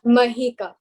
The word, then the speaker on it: Mahika: Have I pronounced your name correctly, Mahika? It's Mahika.